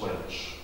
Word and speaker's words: Walsh: And the same with Walsh. My own mother was Walsh, but it was always pronounced Welsh.